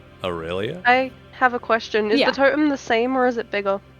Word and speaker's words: Aurelia: Aurelia. Luscious you, and you say Aurelia. rail. You say Rel. rail instead of rel.